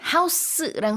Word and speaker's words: house: house랑 스펠링이 같지만 명사일 때는 좀 센 S 발음. house. 그 다음에 동사일 때는 굉장히 부드러운 거의 Z 발음이랑 비슷한 house 이렇게 발음을 합니다.